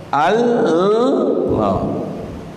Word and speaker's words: Allah: Satu sebutan dia bukan Allah, bukan. Dia ialah lam. Allah. Jadi sebut lam. Allah. Lepas tu tebalkan dia. Allah. Tu sebutan betul dia.